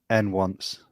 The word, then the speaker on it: nonce: How do you guys say it? N-once. What? Really? Oh, because it stands for number once, right? That's what it means. Yeah. I thought it was. Oh, so it's pronounced nonce though.